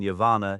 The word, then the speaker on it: Yavanna: For instance, the double N in Yavanna is elongated, akin to the sound in unnamed or penknife, rather than the shorter in unnamed or penny.